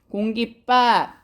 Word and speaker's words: 공깃밥: 세 번째는 공깃밥, 공깃밥이라고 발음해야 된대. 다시 말하면 발음이 어떻게 돼야 된대? 된 소리로 나야 한대.